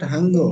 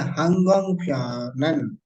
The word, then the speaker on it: 항공편은: It's not Hango, it's a 항공편은. 항공편은.